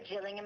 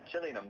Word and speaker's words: Gillingham: I was like, Gillingham, please. Because I figure it's like, like Leicester, like Nottingham. You're not supposed to pronounce all of the syllables.